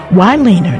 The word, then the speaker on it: Wyleaner: please send your check or money order to waner that's spelled Wy l e a n e r